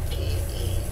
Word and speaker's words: Pettis: And his last name is spelled P-E-T-T-I-S, Pettis. After a career in vaudeville,